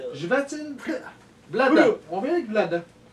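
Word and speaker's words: Chvátil: Comment il se prononce? Jvatil.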